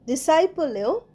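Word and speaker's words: disciple: সি আই পি ডিসাইপ ডিসাইপলেও সি উচ্চারণ হচ্ছে না তো ডিসাইপল মানে কি ডিসাইপল মানে শিষ্য বা অনুসারী ডিসাইপ অফ্রেট গুরু তিনি একজন মহান গুরুর শিষ্য ছিলেন।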